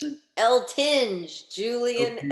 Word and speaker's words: Eltinge: Is that how you pronounce it? L. Tinge, Julian Okay.